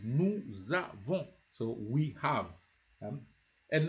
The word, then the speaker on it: nous avons: it changes into avons, you have to join it as nous avons.